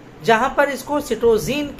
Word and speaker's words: citozein: इसका थोड़ा सा दूसरा जो शब्द है, दूसरा शब्द क्या, दूसरी स्पेलिंग वाला शब्द है, वो हमें मिलता है एंग्लो फ्रेंच लैंग्वेज में, जहां पर इसको सिटोजीन के नाम से जाना गया।